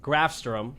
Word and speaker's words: Grafstrom: Today we have Grafstrom.